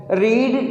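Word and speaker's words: read: रीड की जो second form है, जो थर्ड फॉर्म है, जो फर्स्ट फॉर्म है, स्टूडेंट्स उनके स्पेलिंग सेम है, लेकिन सेकंड और थर्ड को पढ़ते कैसे हैं, रेड।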